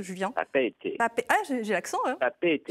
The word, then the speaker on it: Papeete: Papeete. Ah, j'ai l'accent, hein. Papeete. Je suis prête à y aller. On insiste sur le 2 E. Ouais, Papeete.